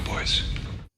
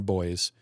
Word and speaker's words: buoy: He pronounced it Sonar Boys. And Oh. being an American, I always think of it as buoy. Yeah, buoy as well. I think of it, yeah. But Europeans will say boys.